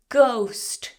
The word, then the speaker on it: ghost: Oh, she saw a ghost, silent H. Ghost.